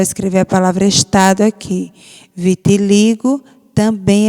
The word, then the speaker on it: vitiligo: tônica é o Gu Vitiligo Vitiligo sílaba tônica é o Li você vai circular eu